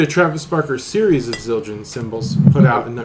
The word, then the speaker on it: Zildjian: Is that pronounced Zildjian? Zildjian, yeah.